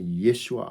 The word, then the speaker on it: Yeshua: I often say Yeshua Hamashiach aka Jesus the Christ.